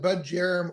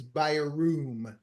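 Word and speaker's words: Bjerrum: It isn't, but it isn't budgerum or jarum. It's beroom.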